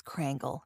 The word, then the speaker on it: Krangle: how do you say your last name it's crangle yeah crangle okay yes I know a lot of people will like automatically spell it as crangle but no nice so